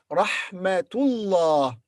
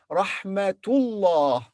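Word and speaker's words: رحمة الله: When تاء مربوطة is followed by another word, we pronounce ta.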